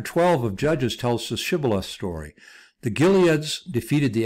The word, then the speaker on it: Shibboleth: And then they said unto him, "Say now Shibboleth," and he said Sibboleth, for he could not frame to pronounce it right.